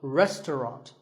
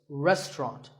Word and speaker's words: restaurant: English learners trouble but don't let the fancy spelling confuse you the second syllable is just tongue and the third is wrought so restaurant in British English you might hear just two syllables restaurant that is also correct after you eat at